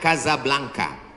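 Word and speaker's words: Casablanca: kuliah nama negaranya Maroko ibukotanya tulisannya casablangca cara bacanya Kadzab langka Kaza artinya rumah Blanca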